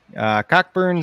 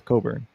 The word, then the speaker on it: Cockburn: Cockburn score or Coburn. It's spelled Cockburn though, but it's Coburn.